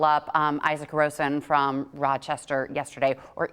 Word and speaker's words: Isak Rosen: Something to note, though, that the Sabres did call up Isaac Rosen from Rochester yesterday, or Isak Rosen, depending on how you want to pronounce it.